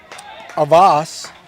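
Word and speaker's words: Auxvasse: got the Rangers from avas no X pronounced in that I just found out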